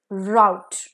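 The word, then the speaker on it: rout: आप यहां आए हो आर ओ यू टी राउट का मतलब है फ्लाइट भागना जैसे द पाकिस्तान आर्मीज व पुट टू राउट उनको भागने में मजबूर किया गया द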